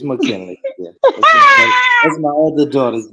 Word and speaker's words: Makinlee: It's McKinley.